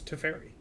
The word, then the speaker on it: Teferi: certainly do not yeah there's an official correct pronunciation and it's to fairy perfect he's from the